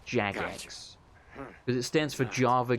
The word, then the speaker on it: Jagex: it money like through Jagex I always quote it jagex but apparently they pronounced Jax as it stands for